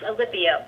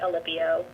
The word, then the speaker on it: Alipio: Yes, Alipio. You did it perfect, Alipio.